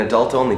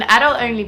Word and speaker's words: adult-only: The Americans put the stress on the second syllable, and the English people put the stress on the first.